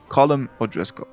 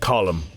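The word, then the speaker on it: Colm: would pronounce it properly Colum it's pronounced column it's not col these first few instances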